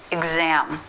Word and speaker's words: exam: So the Z sound starts the stressed syllable, exam.